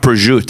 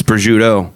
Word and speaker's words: prosciutto: pronounce everything wrong it's it's not pursuit its prosciutto but that's just New York